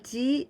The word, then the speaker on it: 時: じ, 時, but we pronounce じ.